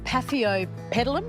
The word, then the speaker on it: Paphiopedilum: And this is the Paphiopedilum, am I saying it right?